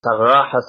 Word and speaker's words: Sagrajas: In Spanish, Sagrajas, I believe they pronounce it as, but it's a place in which a battle occurs in the year 1086.